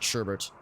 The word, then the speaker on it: sherbet: or sherbet rather oh wait no no it's sherbet but as a midwesterner we always pronounce it sherbert at two hours about